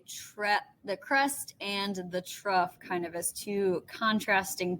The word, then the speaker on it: trough: of a word but this is pronounced trough with kind of an f sound at the end right uh is the